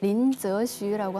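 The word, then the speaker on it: 林则徐: 동신은 아시죠네 그 임칙서 그 중국 발음으로 린즈 쉬라고 하는데요 이분이 중국이 그 서양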